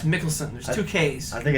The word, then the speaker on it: Mikkelsen: We may be pronouncing that wrong. I think it's Mickelson.